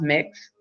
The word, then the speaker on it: Mx: MX is pronounced mix.